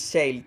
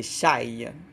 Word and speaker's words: chaille: Alors, dans la chaille, j'ai dit shale tantôt, mais c'est chaille. Ça, je prononce comme du monde, il y a un E.